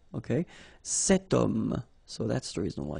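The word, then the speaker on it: homme: is here we've got this Ash letter remember Ash is not pronounced okay so you've got the sound of O at the beginning of this word okay setum so that's the reason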